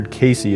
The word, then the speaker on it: Cayce: Yes, I believe it's Edgar Casey is how you say his last name.